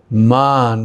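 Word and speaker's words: मान: Man with a long A means anger.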